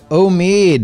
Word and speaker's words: Omid: Omid, is that how you say it?